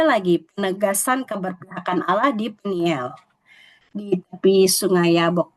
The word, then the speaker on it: Peniel: Kemudian berikutnya ada lagi penegasan keberpihakan Allah di Peniel di tepi sungai Yabok. Bacanya peniel Bapak Ibu, bukan Penil. Kalau penil tuh ejaan lama tapi ini bahasa Ibrani peniel bacanya.